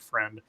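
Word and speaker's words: Freund: AJ friend I found out that's how you pronounce his last name not frying but friend found dead and his parents are charged with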